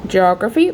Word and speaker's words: geography: also the stress pattern the primary stress is on the second syllable indicated Again by the little symbol we put so geography on the G the next slide we